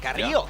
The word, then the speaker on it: Carrillo: Carrillo. Yeah. Hey, Carrillo. A rolled that R pretty well.